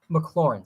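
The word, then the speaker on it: McLaurin: are are sweet um i would probably go mclaren though maclaurin sorry maclaurin i'm really i'm working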